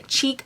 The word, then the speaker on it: Chique: So next I'm going to go in with a cheek crease eye brush.